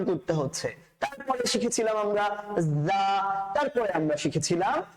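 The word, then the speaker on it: ز: তারপরে শিখেছিলাম আমরা যা, তারপরে আমরা শিখেছিলাম যা। যাটা যেন কিভাবে উচ্চারণ করতে হয় স্যার, আমরা বলেছিলাম যাটা যখন উচ্চারণ করবেন তখন অনেকটা মৌমাছির মতন আওয়াজ শুনতে পাবেন।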